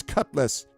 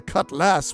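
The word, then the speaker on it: cutlass: I want to die on the end of an enemy's cutless. You know, a sword that cuts less. Not a cut lass, which is how you actually spell it.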